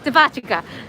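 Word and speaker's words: デパ地下: Also, I think depachica, is that how you say it? The underground underneath the mall. Oh yeah, the pachka. Devachika.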